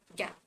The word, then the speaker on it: GAAP: g a ap but when we talk about how we spell it out when we are talking about it the pronunciation comes out to be gap uh generally accepted accounting